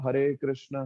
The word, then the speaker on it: हरे कृष्ण: शिखा है ना तो हरे कृष्णा हरे कृष्णा कृष्णा हरे हरे राम हरे राम राम हरे हरे ये सही उच्चारण है हरे कृष्णा महामंत्र करने